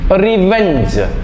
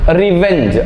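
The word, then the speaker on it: revenge: infringe R ഇ വി ഇ എൻ ജി ഇ റിവഞ്ച് റിവഞ്ച് അത് നേരത്തെ പറഞ്ഞപോലെ റിവഞ്ച് എന്ന് പറയുന്ന പോലെ തന്നെയാണ്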